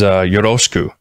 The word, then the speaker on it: yoroshiku: There's a common word used in greetings in Japanese, which is yoroshiku, and that second syllable is ro.